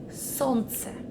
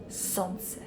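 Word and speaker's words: солнце: pronounce that correctly because the majority of foreigners do mistakes here sansa this is le in the middle so remove it from this word and pronounce sons and now we're gonna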